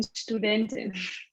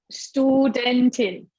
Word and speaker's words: Studentin: can say ich bin Studentin in this example. It's been student. How to say? Studentin. Ich bin Studentin. Studentin. Oh, it's been studentin. Well, Yeah. So S sounds like sh, like Yeah.